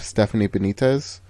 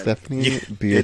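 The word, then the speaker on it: Stephanie Beatriz: want to watch it be solely because of Stephanie Bonitez. Rosa Diaz. Stephanie Beatatric. Yeah, sorry. Stephanie Beatatric. Do not get Rosa's name wrong. One more time. Stephanie Beatric.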